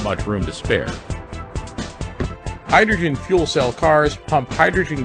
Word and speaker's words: hydrogen: hydrogen. 이거 발음하실 때 주의하실 게 하이드로겐이라고 하시는 분이 꼭 있어요. 네, 여기 영어에서는 겐이 아니라 G 발음이에요. 그래서 윗입술 올라가야 돼요.